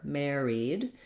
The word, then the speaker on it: married: In my pronunciation, more of the air, married. This syllable, two vowel letters, just one sound, the E. So Mary, just like Mary plus a D, married.